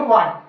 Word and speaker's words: what: अगला एग्जाम्पल है आपका WHAT, ठीक है, इसमें भी डब्ल्यू के जस्ट बाद एच आ रहा है, इसे बोलेंगे वाट।